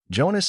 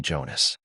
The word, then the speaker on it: Jonas: In German you pronounce the J like in Spanish the LL.